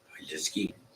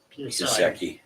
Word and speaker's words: Piasecki: How do you say that? Piaseski? Piasecki. Piasecki.